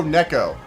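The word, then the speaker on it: Neko: want from me my God you can't even pronounce this Nico Nico NE oh Neco Neco sorry Neco para sorry I was pronouncing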